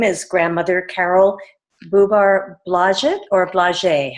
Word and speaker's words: Blodgett: years ago but now now it's we it's pronounced Blodgett now according to the similar roles of who you are now so but it's um it's Blodgett okay you pronounce it however you would like